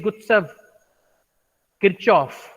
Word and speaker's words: Gustav Kirchhoff: So I have pronounced his name as English pronunciation without using German pronunciation.